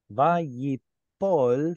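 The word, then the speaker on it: וַיִּפֹּל: Vayipol should have been vayinpol. Okay? Vayinpol is the hypothetical original form of this verb.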